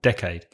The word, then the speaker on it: decade: is 10 years and we agree on the pronunciation should stress the first syllable decade what's the next word